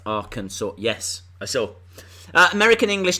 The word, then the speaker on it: Arkansas: No, it's spelt Arkansas, but pronounced Arkansas.